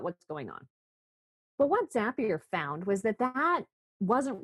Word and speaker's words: Zapier: Um Zapier, it rhymes with happier is an all remote team that works on a software platform that helps integrate other kinds of software together.